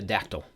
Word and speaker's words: dactyl: And the last type of meter that we're going to be working with is called the dactyl. Adactyl, kind of like pterodactyl without the terra, um, consists of one stressed syllable followed by two unstressed syllables.